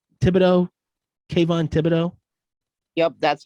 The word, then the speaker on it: Kayvon Thibodeaux: ended up getting um oh how do you pronounce his name thibodeaux kayvon thibodeaux yup that's how you pronounce the name kevon